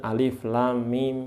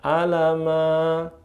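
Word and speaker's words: الم: Kemudian hurufnya dihafali alif lam mim ya sin th ha th sin ha mim dan seterusnya. Apalagi yang surat Maryam itu yang panjang itu ee dihafal ka fa ya ain shod. Nah itu dilatih ya. Jangan bacanya alama yasa gitu. Jangan salah itu ya.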